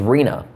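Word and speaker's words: Rina: It was Rena. Just R-I-N-A. Kind of like Christina, but Rena.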